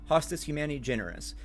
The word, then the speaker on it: Hostis Humani Generis: The server tag for the Deku server is Hostis Humani Genere, or Generis. Hostis Humani Generis is a Latin phrase meaning enemy of mankind or enemy of the human race.